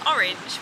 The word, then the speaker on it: orange: i say orange so the proper way to say orange is orange with two syllables orange orange orange the